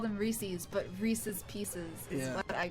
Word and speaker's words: Reese's: done that is everybody they're trying to say that like Reese's is the proper pronunciation I've always seen those